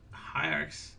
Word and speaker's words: Hiarcs: It's going to be Hiarcs. And now I hope I didn't butcher the name, but I went to their website and that's how they pronounce it.